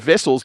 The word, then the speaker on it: Wessels: Now, the reason I said vessels, there used to be a cricketer played for Australia called Kepler Vessels. His surname was spelled the same way.